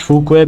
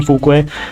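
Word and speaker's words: 符玄: Fukue or Fuke, I pronounce Fukue because she's Chinese and I thought that, okay, might as well just say it in Chinese.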